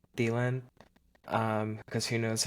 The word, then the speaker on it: Thielen: Thielen.